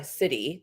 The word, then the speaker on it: siddhi: gift of style and the city the s-i-d-d-h-i city that's how that's spelled which means divine gift this is like